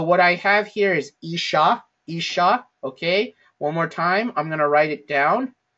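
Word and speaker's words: אִשָּׁה: So the aleph with the hirek, shin, and then there's the dagesh in here. Then we have a kametz, and then finally the hey. Okay? So isha, all right?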